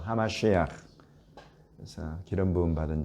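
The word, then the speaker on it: המשיח: 히브리어로는 메시아라고 하고 또 정확한 히브리어 발음은 하마시아흐라고 하죠. 하마시아흐.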